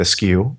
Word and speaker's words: eschew: Eschew. I always pronounce that askew, and that is, an alternate pronunciation.